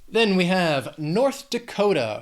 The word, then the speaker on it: North Dakota: Then we have North Dakota, 4 syllables, but Dakota has 3 syllables and the stress is on that second syllable, Dakota, North Dakota.